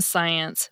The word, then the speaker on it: science: A better answer is to say that the SC in science makes an S sound, like the phoneme S.